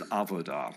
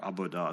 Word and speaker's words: avodah: The word is avodah, or abodah. It's pronounced slightly different ways.